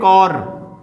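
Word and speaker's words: corps: कोर उसने जवाइन किया यह देखिए कोर जिसे आप कोर कहते हैं वो स्पेलिंग उसकी आप ध्यान से देख लीजिए कर्ब्स ठीक है नेक्स्ट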